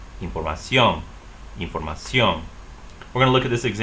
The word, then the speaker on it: información: So normally you would say información. However, that's incorrect stress.